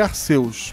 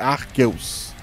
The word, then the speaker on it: Arceus: Eu sempre falei Arceus, mas eu acho que a pronúncia certa é Arqueus.